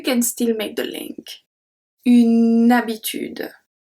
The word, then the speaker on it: habitude: We do not pronounce H like English speaker.